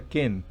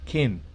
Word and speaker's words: ken: Una I muy corta, no se estasíe en esa I, sino dígala muy corta y hacia una E, ken. La E es naturalmente E, ken, así como se pronuncia en español.